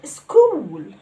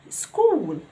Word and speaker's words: school: برضو عندي CH في بعض الأحيان بتتنطق ك sound. زي كلمة school, school.